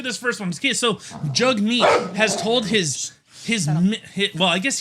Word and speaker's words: Jagmeet: Jagmeet? Yeah, apparently that's how you say his name.